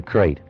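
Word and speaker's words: krait: First, the crate. You spell it K R A I T.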